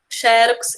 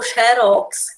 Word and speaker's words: xerox: a Oceania EA Oceania xerox ou xérox as duas palavras Tanto faz você dizer xerox ou xérox também a mesma coisa